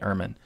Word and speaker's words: Ermine: it's Ian or not but it's definitely airman is how you say the name of the animal and this this is